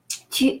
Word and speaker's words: tu: U in French is pronounced U, and U is pronounced keeping the lips as if you wanted to say U, and inside of the mouth you're saying the sound E.